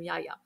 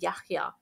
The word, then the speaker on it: Yahya: everybody said to me nobody's going to be able to pronounce his name they're going to call him yaya so when he was about six i told him about his name and the history of his name and i said your name is yahya and people have to pronounce it the way i'm pronouncing it and that boy bless